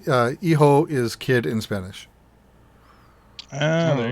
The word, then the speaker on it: Hijo: Then the last game is called El Hijo, Hijo. So it doesn't look like how it's pronounced. Or it does if you know Spanish, of which I don't.